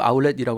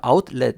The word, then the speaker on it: 아웃렛: 주의할 게 우리는 아울렛이라고 하잖아요. 그래서 이걸 아울렛이라고 자음동화를 일으켜가지고 발음하기가 쉬운데 아웃하고 렛하고 합쳐진다고 해가지고 T 발음이 L 발음으로 바뀌는 건 아니죠. 그래서 아웃렛 이렇게 정확하게 T 발음을 해줘야 되겠습니다.